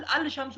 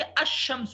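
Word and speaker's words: الشمس: हो गया ठीक है अल अल शम्स हम नहीं कहेंगे बल्कि अमस कहेंगे शीन दो दफा हो जाएगा ठीक है तो अब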